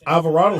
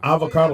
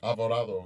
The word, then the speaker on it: Alvarado: So on Alvarado Street, keep the mic by you. I've seen one. So on Avocado Street, am I saying it right? Alvarado. Alvarado, yeah. Yeah. So that's where Olivero. No, Alvarado.